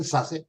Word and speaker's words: Sasse: Adam Fletcher Sasse. Is that correct pronunciation, Sasse?